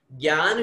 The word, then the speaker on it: ज्ञान: का प्रयोग करते हैं, लेकिन ज्ञान शब्द आधा ग और य जो अपन बोलते हैं और य बनाते हैं वह उच्चारण भी बिल्कुल सही है, गलत नहीं है।